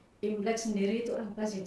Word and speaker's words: Imlek: Bukan lidah Indonesia, jadi memang dialek Hokkien. Bahasa Hokkien itu memang Imlek, bacanya Imlek gitu ya.